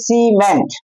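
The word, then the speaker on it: cement: উদাহরণ দিলে আরো পরিষ্কার হয়ে যাবে যে এখানে দেখুন সি এর পর সি ই এম ই এন টি, তাহলে এই সিটা আমরা ক উচ্চারণ করবো না স উচ্চারণ করবো। তো সি এর পর ই আছে মানে এই নিয়ম অনুযায়ী তাহলে এটা হবে সিমেন্ট, আই থাকলে ধরুন লেখা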